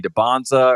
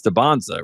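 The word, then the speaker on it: Dybantsa: before, I was like, "What is it, AJ Debansza or is it AJ Debansa?" and he was like, "It's Debonsza, right?"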